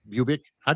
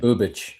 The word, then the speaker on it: Bubic: Bubic. How do you say his name? Bubich.